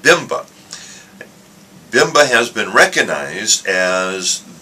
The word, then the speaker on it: BIMBA: The initials are BIMBA, and so we pronounce it BIMBA.